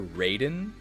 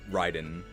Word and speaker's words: Raiden: Is the official pronunciation of the Mortal Kombat character Raiden? That's just wrong. It's definitely Ryden.